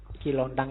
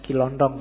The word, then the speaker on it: Kilontang: Kilontang ini waktu diinterogasi antara lain yang diucapkan itu, bukan Kilondong ya.